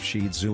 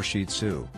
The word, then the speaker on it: Shih Tzu: giggles and mischief follow shizu pronounced in the west sheedzu or shiitsu the chinese seizures are weighing between 9